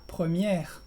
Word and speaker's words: première: Y en la palabra première, como tienes la R pronunciada y la E muda al final, se dice con la E, con el sonido de la E relajada.